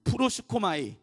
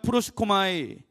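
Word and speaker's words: προσεύχομαι: 이 발음이 잘 안 돼. 프로시코마이. 예, 따라해 보겠습니다. 시작. 프로시코마이.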